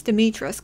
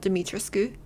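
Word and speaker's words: Dimitrescu: welcome castle dimitrisk yeah apparently it's dimitra's not demetriscu the u is silent okay let's continue hopefully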